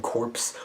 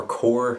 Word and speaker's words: Corps: flashpoint cyborg Green Lantern corpse or cord apparently as how it's pronounced Lobo whoever that is